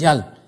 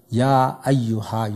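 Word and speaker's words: يا أيها: an al, like Ya, you cannot say Yal. How would you pronounce this? Yal. You see, so you say Ya Ayyuha, you put that Ya.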